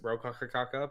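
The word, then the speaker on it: Rokakaka: It's still pronounced Rokaka, but they just spell it with an L because they're Japanese and L and R are the same.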